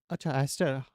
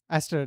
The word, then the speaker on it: Aster: Aster. Aster. That's how you pronounce his name.